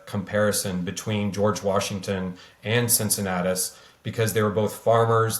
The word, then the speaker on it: Cincinnatus: Cincinnatus, yes.